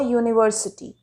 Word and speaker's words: university: Same way, an uncle, but, a university. The U at the beginning of university sounds like you.